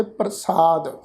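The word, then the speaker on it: ਪ੍ਰਸਾਦਿ: मैं पहला भी कई बार आप जी के चरणों में ये बेनती साझी की है भी इस शब्द का पाठ असी करांगे प्रसाद।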